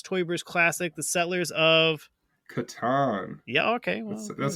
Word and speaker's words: Catan: How do you pronounce Klaus Teuber's classic, The Settlers of? Catan.